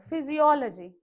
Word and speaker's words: physiology: So another word, physiology. How do you pronounce? Again check. Physiology. Okay. From back 3. Again it comes on before O only.